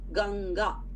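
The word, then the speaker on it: गंगा: when you are writing in the middle of the word ganga GGA is there however you say it as k no that anusara is pronounced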